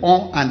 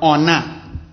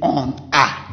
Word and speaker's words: on a: So between the on and then the a, don't forget we did liaison. We have to pronounce on a. We don't say on a. No, en français, il faut dire on a. On fait liaison ici.